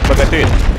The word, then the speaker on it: Bogatyr: This is Bogatyr class, or Bogatyr, that's how it's supposed to be pronounced.